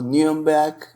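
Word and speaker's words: Nürnberg: é uma visita à cidade de Nuremberg ou New back a pronúncia alemã é uma cidade que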